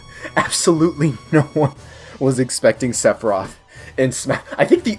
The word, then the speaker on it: Sephiroth: Also, I got comments with Sephiroth, because I pronounced it as Sephiroth.